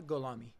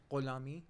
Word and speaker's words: Gholami: your name for me it's golami golami it's not Hami it's not Hami it's technically but don't worry about that Ami how would you pronounce it in farsy goami oh okay okay so